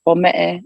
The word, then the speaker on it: Pome'e: Because my background is I'm Tongan. I'm from the South Pacific island of Tonga, and so it's pronounced Pome'e in Tongan.